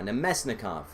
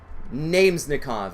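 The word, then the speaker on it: Namestnikov: I know how to pronounce it now. Nemesnikov. Namesnikov is, I think, what I was calling him when I first started seeing his name like in NHL 15, 16.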